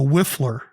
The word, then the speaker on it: whiffler: So don't get upset if I'm a little bit of a whiffler today. W-H-I-F-F-L-E-R. 2 syllables, so Justin's got a chance.